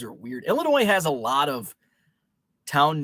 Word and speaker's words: Illinois: and there you go illinois the s is silent and many people like i say el inoy and many people don't like that it's ill illinois and i say illinois